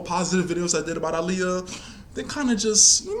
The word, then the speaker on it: Aaliyah: her name is pronounced aliyah to everybody saying you pronounce her name wrong no her name is pronounced aaliyah people like to ignore